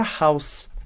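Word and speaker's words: Haus: Primeiro é a palavra house, house. E house significa casa. Note que no alemão, diferente do português, o H ele não é mudo, ele realmente vai ter um som bem forte.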